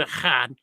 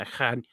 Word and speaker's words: echad: The word echad, I'm probably, it's as best as I can pronounce it, echad, E-C-H-A-D, and there's some guttural in there.